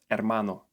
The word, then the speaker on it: hermano: This is an easy letter to learn in Spanish because in 99% of cases it doesn't make any sound at all. In this case, it's called silent H. Here are some examples. Hamburguesa, hermano, ahora, hacer, almohada.